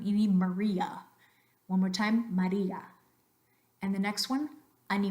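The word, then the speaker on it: María: day are identical Eldora the next one after me Maria Maria again both of those A's identical we don't want any Maria one more time Maria and the next one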